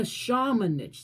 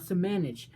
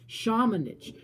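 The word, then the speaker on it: Šamanić: And I like to see guys like Luka Shamanich. That's how you say it. If you're a Luka Shamanich fan. I'm sorry. Not Samanich. Shamanich.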